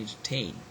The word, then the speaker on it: entertain: itself is stressed okay so that's where we have got to entertain entertain pain entertain so this the last syllable is stressed okay so this is